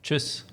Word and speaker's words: Tschüss: Tschüss.